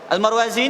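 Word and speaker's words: المروزي: saja dan ini almarwazi almarwazi ini ulamayafi'i kemudian almarudzi itu ulama mazhab Hambali Cuman beda di huruf dalal tulisannya persis sama Tapi bacanya almudzi dan almarwazi Al Imam marwazi rahimahullah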